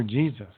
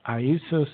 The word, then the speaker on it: Iesus: But it was never Jesus. It was Iesus, in Latin, Nazarenus Rex Iadorium, which today we say Jesus the Nazarene, King of the Jews.